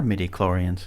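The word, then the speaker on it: midi-chlorian: say it properly Master mods ma'am what are medoran yeah okay I'm saying it right you're saying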